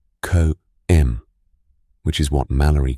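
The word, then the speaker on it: cwm: The Welsh word for valley, pronounced co, which is what Mallalerie called it in 1921.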